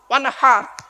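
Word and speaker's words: وانحر: ওয়ানহার, এই গলার ভেতর থেকে হে এটা উচ্চারণ করবেন।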